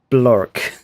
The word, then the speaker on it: Blark: I've already given the shark a name, Blark, pronounced Blork.